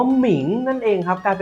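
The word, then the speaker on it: 明: แสง สว่าง นั่น เอง ทุก คน อ่าน ว่า หมิง นั่น เอง ครับ กลาย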